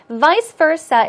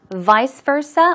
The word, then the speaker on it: vice versa: leave or vice versa vice versa is pronounced two ways vice versa or vice versa both possible any out maternity once